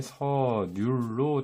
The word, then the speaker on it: 선율: 그래서 이 리을을 대신에 이응으로 적어서 사람들의 실제 발음이 선율에서 이제 서률로 된다는 것을 반영한 것입니다.